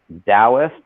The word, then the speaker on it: Taoist: You asked, I think, 3 separate questions there, and so the book is called Taoist. That's spelled with a T.